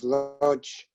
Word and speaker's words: Łódź: your family's neighborhood in, I'm going to pronounce it Łódź, I'm not sure if that's right. That's correct.